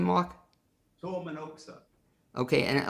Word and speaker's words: Tuomenoksa: Tormanoksa. Okay, and I like how you said it, and you pronounce it, is that the traditional pronunciation?